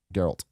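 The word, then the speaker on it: Geralt: is draught Oh Carol Gerald wish your butcher yeah hard G Mark Hamill as the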